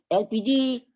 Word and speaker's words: elpiji: lu Apa itu gas elpiji elpiji pelafalan bahasa Indonesia dari ekonomi bahasa Inggris LPG yaitu Liquid Petroleum gas khalifah gas minyak bumi